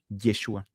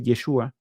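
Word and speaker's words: ישועה: su fonética, por ejemplo, si una persona hablara en hebreo y y leyera esta palabra que está aquí señalada, su pronunciación sería Yeshua. Por eso es que nosotros usamos precisamente el nombre Yeshua para dirigirnos precisamente a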